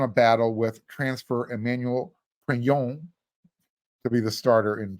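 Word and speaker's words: Pregnon: battle with transfer Emmanuel crayon to be the starter in 2023 yes um we got word it is pronounced crayon moves the G lose the hard G pretend you're French pronounce it like your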